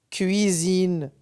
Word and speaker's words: cuisine: ce comme usine usine cuisine lorsque la lettre S se situe entre de voyelles ça se prononce ze j'espère que c'est clair